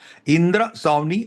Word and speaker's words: इंदिरा स्वामी: इंदिरा स्वामी, इंदिरा स्वामी versus union of India. Pronunciation ठीक से कीजिए, इंदिरा नहीं है, इंदिरा है, इंदिरा स्वामी है, ये आदमी है.